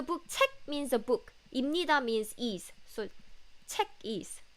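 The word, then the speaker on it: 입니다: it up with pup here but when you pronounce it it's imnida in needha so never write like this but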